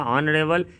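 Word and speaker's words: honourable: ऑनरेबल ये एच से शुरू है लेकिन उच्चारण इसका ओ से शुरू होगा, ऑनरेबल, इसीलिए एन लगेगा।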